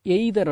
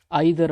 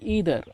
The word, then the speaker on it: either: இந்த EITHER இது வந்து எய்தர் அப்படின்னு உச்சரிக்க வேண்டாங்க, ஐதர் அப்படின்னு உச்சரிங்க, இல்லை ஈதர் அப்படின்னு கூட உச்சரிங்க. சரிங்களா?